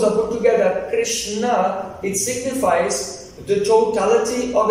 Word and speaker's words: Krishna: Entonces en sánscrito la palabra carisma es Krishna. So it has two syllables, Krish and Na.